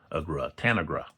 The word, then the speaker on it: Tanagra: They pronounced it online Tanagra.